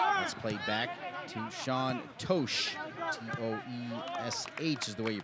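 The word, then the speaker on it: Totsch: - Transylvania University let's played back to Shaun toch SH is the way you pronounce it is spelled t OT SCH and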